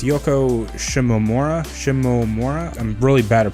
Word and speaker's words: Yoko Shimomura: I forget how to pronounce her name. It's Yoko Shimomura.